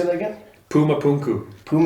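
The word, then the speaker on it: Puma Punku: it's amazing how do you say that again Puma punu pum p u m pum yeah p u m u p u n KU Puma punu Puma punu yeah in Bolivia yeah it is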